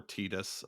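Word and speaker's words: Tidus: um but voicing uh I've heard it pronounced Titus or tetus uh depending on who you are uh you know voicing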